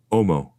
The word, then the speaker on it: homo: eye socket the word omo is perceived which is the Latin word for man technically it is written homo but the H is not pronounced as the pilgrim stares